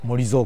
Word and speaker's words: MORIZO: ありますけれども読み方としてはモゾコンセプトというらしいですが RR という